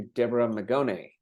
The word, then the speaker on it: Deborah Magone: So according to you, according to Deborah Magone, did I say it right?